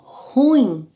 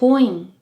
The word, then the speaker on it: ruim: you can say deu ruim. Repeat. Deu ruim. Deu ruim. A quick tip here. The correct pronunciation of the word on its own is ruim.